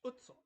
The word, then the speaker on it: Utso: It's Utso, not Uso. Yes.